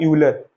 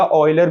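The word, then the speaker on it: Euler: फिर उसके बाद एक स्विस मैथमेटिशियन थे जिनका नाम था यूलर या ऑयलर भी कुछ लोग प्रोनाउंस करते हैं यूलर।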